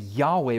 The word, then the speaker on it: Yahweh: when God revealed himself to his people, we pronounce it and we say it Yahweh, but it's a very difficult word to pronounce.